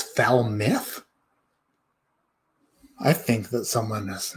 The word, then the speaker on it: Falmouth: you'll use a why you never ever use an ou and expect people to pronounce it right f-a-l-m-o-u-t-h is foul myth i think that someone